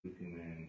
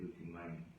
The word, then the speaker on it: Gucci Mane: You know, one thing I like about what he said Gucci Mane. He said Gucci right. He said Gucci Mane. Nah, Gucci man.